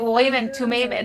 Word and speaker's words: Urim and Thummim: The Urim and Thummim, they are hidden.